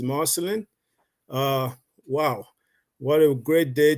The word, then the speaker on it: Marcelin: So, Markellen, the floor is yours. Well, hello everyone. Good afternoon, good morning, good evening, wherever you are. Again, my name is Marcelin. It's pronounced right, Chris. It's Marcelin.